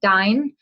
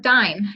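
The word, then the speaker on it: Dyne: I would tell you to start Dine at this point. And Dine is just a liquid fat. It's spelled D-Y-N-E.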